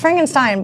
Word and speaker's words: Frankenstein: Yeah, it's Frankenstein, but I kept saying Steen, and it would not get out of my head all morning.